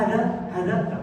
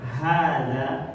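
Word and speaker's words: هذا: Jadi jangan kita baca ma hadza, tapi hadza, ma hadza, man hadza.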